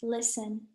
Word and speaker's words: listen: silent letter in listen the t is actually the silent letter so we say it like this listen and finally what's the